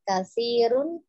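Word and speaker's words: كثير: Jadi tidak ada tasdid pada sa-nya, tapi juga dipanjangkan dua harokat, kasirun minan nasi.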